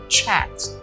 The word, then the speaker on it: chat: então a pronúncia é chat tem um som de um t lá ok então é c a t quando a gente pronuncia tem um som de um t lá então fica chat chat que significa conversar